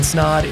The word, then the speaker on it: Snaadt: My name is Snod. It rhymes with Odd and you're listening and watching the Rhymes with Odd podcast.